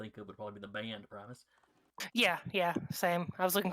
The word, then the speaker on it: Primus: Primus. Yes, that's the word. The No, priest Connor- cast the spell. Connor and me both put the emphasis on the wrong syllable.